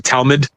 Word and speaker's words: Talmud: I like how you call it the Talmood. The we just to pronunciate phonetically like we would call it the Talmud. Like it's more it's more guttural like just Telmood sounds way sexier.